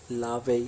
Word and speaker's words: La Vie: today we are talking about अ मूवी name लावे and rose so without wasting अ time let's